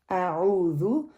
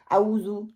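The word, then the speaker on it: أعوذ: ذا جو ہے اس کے اوپر پیش ہے، اس کو پیش کی طرح پڑھنا ہے. ذو جیسے ہم کہتے ہیں زو، چڑیا گھر جیسے ہوتا ہے، بچوں کو ہم کیا کہتے ہیں؟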